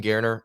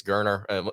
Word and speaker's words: Geriner: three guys holding holding Garner uh uh or or gerner I believe they they settled it on the broadcast it's it's gerner if I'm not mistaken I'm gonna have to